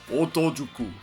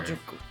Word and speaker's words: Otokojuku: Otojuku. Something like that. I'm sure. Otokojuku.